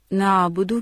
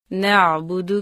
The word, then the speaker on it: نعبد: نعبدو کی ادائیگی میں عام طور پر 2 غلطیاں کی جاتی ہیں۔ نمبر 1، عین کے تلفظ کا خیال نہ رکھنا، یعنی نعبدو کو نعبدو پڑھنا، نعبدو کو نعبدو، نعبدو کو نعبدو کہہ دینا۔ نمبر 2، پیشوں کو مجہول پڑھنا اور دال کی پیش کو لمبا کر دینا، جیسے نعبدو